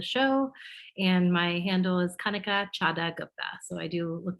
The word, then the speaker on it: Kanika: it's okay yeah okay but kanika rhymes with hunter okay very good all